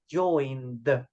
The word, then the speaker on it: joined: But the pronunciation, remember, is joined with letter D at the end.